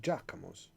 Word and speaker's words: Giacomo: but you were calling it Giacomo's, right? And I was going, no, it's pronounced Giacomo. No, but it's got a GIA, Giacomo's. And I was like, no, it's Giacomo. That's how you say that.